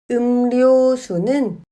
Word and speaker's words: 음료수: 하지만 리을은 르로 발음하지 않고 느로 발음합니다. 음료수는 음료수로 발음합니다.